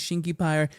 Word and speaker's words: Shinky Pyre: My name is Shinky Pyre. The name rhymes with fire.